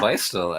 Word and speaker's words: Beistle: yeah, Beistel. I mean, you're going to see a lot of that name, and it's spelled Beistle, and you'll see that here in